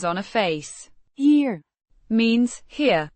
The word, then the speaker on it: hier: a face here means here pronounced here similar to the English word here but with a slight softer e.